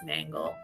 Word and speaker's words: Nangle: I don't normally, but mangle rhymes with nangle.